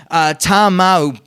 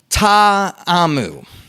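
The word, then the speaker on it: Ta'amu: the battle Hawks QB you're pronouncing it Tom out but the correct pronunciation is taw a mu or yeah I think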